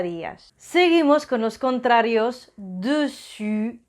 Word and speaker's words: dessus: Dessus es el sonido U. Y os recuerdo que para hacer un U empezamos pronunciando una I y luego ponemos los labios en círculo. I, U, dessus y dessous. U es el sonido U como la U española, dessous.